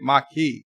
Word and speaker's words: Maquis: oz edison's barkeep vertebrae marquis the French word you say it Mikey Thank You Alexander Joseph's